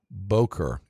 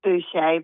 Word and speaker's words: Buché: On the telephone with me right now is Boer. Am I pronouncing your name right? Your last name. It's Buché. But Bush.